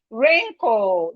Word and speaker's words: wrinkle: We have wrinkle, the W is silent.